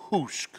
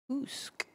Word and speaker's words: Hoosk: People getting I was told that it's pronounced Hoosk. And it is Hoosk.